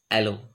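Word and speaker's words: allons: repeating the word allows alan's french word pronounced as aloe meaning we go or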